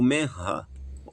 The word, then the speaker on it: Memra: interpretado e apareceu o memra, o menra, como se pronunciaria hoje em dia em Israel, o men, o memra do Senhor a Abraão.